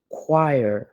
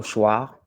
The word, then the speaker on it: choir: C'est le mot « choir ». Certains sont tentés de lire ce mot « choir », ce qui est faux. Il se lit plutôt « choir ».